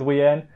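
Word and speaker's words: Wiene: wien they were saying wean but that just makes me think weiner and that's just a bit gross so i'm just gonna i'm probably gonna stick with wii n don't know exactly how it's pronounced but that's how i've always pronounced it when i read the book so sorry if you disagree with that if you really hate it i'll call a ween but wien sounds better in my in my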